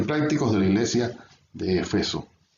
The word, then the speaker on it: Efeso: Entonces ya han notado que yo siempre digo Efeso, aunque en la mayoría de los textos se escribe Éfeso, pero en la Reina Valera de 60, que es la que usamos mayormente, se escribe sin la tilde, la E, o sea, no es una palabra esdrújula, sino llana.